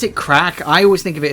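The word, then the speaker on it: craic: It's it's it's as said they pronounce it crack. I always think of it as like crack. Um but it's like with an Irish accent, it sounds more like crack, which is the joke.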